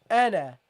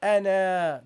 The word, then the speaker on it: أنا: You have to drop the alif. Okay, so you pronounce this as ana, not ana. Don't prolong it.